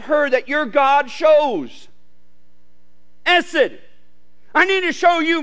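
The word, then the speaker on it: חסד: spelled 80 sed but the H is silent and so it's really pronounced ESSID s it it's one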